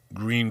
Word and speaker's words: Gruene: And right across from where this girl's family lived, in a place called Green Crossing, Gruene, which, we pronounce it differently.